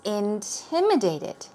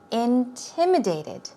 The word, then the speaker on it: intimidated: have for you is intimidated here you go stress goes right there intimidated intimidated you can be intimidated